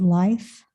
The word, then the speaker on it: Leaf: materials like we had is it Life that works for the town? Is that his name? Because it's spelled Leaf and he deals with trees. So I thought that was cool, but it's Life.